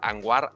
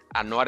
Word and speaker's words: Anwar: Gran gran persona en LinkedIn a todísimo dar Anuar Anuar me corrigió su nombre se no se pronuncia Anwar. Ano entonces ustedes lo van a contactar. Anoar es el nombre.